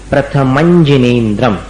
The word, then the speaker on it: प्रथमं जिनेन्द्रम्: प्रथमं, अंजन जैसा, प्रथमंजिनेन्द्रम, ये इसका उच्चारण है।